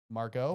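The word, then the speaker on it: Margot: Margo. Margo. The tea is silent.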